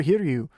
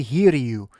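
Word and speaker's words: Hiryu: so it should be here to you if i'm not mistaken because the the eye is always in japanese the eyes are always pronounced e it's like yuki you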